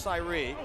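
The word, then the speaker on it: Sayre: a s's department store it's spelled the same way though it's pronounced Sye and the check down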